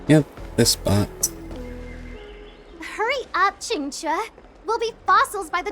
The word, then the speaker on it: Qingque: on let's go Yep this spot hurry up chincha we'll be fossils by the time you're finished enjoy and that's how you pronounce it I heard there was a disaster